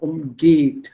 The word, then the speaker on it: umgehen: So umgeht, stresses on the second syllable.